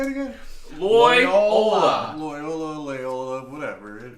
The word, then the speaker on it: Loyola: Loyola.